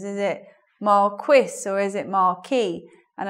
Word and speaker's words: Marquis: Well, no, I found out people do say it either way, but the French pronunciation is Marquis, whereas, let's say, according to the dictionary, the standard pronunciation of that in English is Marquis.